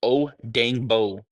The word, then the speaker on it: Odeyingbo: Dayo Odeyingbo, experience. His first name is actually Timai Dayo, but they call him Dayo for short. And his last name is pronounced Odeyingbo, like Luau Dang, or as Stacey King says, Luau Dangerous.